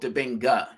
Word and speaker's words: Dibinga: And just a quick thing, my name's pronounced Dibinga.